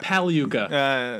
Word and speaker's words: Pagliuca: Well, you mispronounced Joyce's last name. You tried your best. Pagliuca. Silent G.